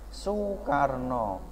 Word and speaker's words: Soekarno: Seperti contoh Soekarno itu ditulis Soekarno, tapi bacanya Soekarno.